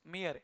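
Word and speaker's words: Mayr: हा माणूस है ना 1904 ते 2004 अंश मियर असा रिस्पेक्ट असला पाहिजे या माणसामध्ये बघा ना born on July fifth in 1904 in Germany अंश मियर मेयर ची स्पेलिंग बघा एम ए वाय आर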